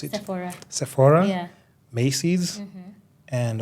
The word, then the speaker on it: Sephora: and like say Sephora or how do you pronounce it Sephora Sephora yeah maced MH and of course like